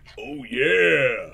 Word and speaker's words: Ouya: it's pronounced like the Kool-Aid guy says it. Oh yeah!